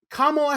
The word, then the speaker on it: Kamala: to do it okay so it's Kamala Harris like a comma with a law at the end of it I guess from this